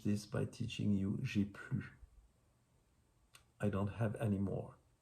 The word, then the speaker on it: plus: If you've lost if you broke your glass at the restaurant, j'ai plus de verre. It's very, very, very important that you do not pronounce the S at the end.